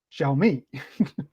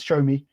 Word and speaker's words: Xiaomi: is pronounced Huawei and Xiaomi is shall me I don't particularly understand what doors talking about when you say it's show me well I you know